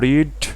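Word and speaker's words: read: তারপরে বসে গেল আমাদের বুকস, তারপরে বসে গেল রিড, মানে রেড হয়ে গেল, উচ্চারণটা হবে রেড, তারপরে হয়ে গেল বাই ইউ, লাস্টে হয়ে গেল ইন্টারোগেটিভ সাইন।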